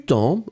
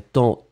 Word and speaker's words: temps: Et puis après temps, T-E-M-P-S. Attention Monique, avec un petit S à la fin. Ce serait plus joli. On ne prononce pas le S, mais...